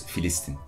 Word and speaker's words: Filistin: Okay, because in Turkish it's Filistin. It's with an F.